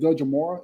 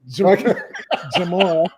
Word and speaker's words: Jamora: how you say it, Dajamora? Is that how you say it? Dajamora? How you say it? Yeah. Jamora. Jamora, yeah. The D is silent.